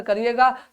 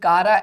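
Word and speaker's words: Chara: जल्दी से आंसर करिएगा।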